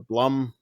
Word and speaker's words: Blum: Jason Bloom yeah uh or Blum Bloom Plum I don't know Bloom I've heard it pronounced both ways so yeah yeah uh